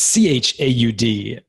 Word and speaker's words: Chaud: It's Chaud. It's hot in French, by the way.